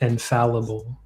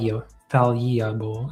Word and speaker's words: infallible: It's Yeah, you want you you're gonna want to pronounce that infall infallible. How am I saying it? You said like infall infallable. It's just infallib. Infallible.